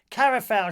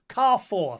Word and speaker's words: Carrefour: Koo gorian kara foul shot pronounced Carrefour thank you dr.